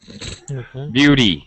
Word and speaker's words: beauty: British American English um the fast D or sorry fast D flapped D sound is specifically American and we're going to use this whenever we have a t which is surrounded by vowels okay Beauty yeah Beauty